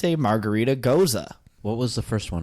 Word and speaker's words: Gose: Is pronounced Gose. Gose? Gose.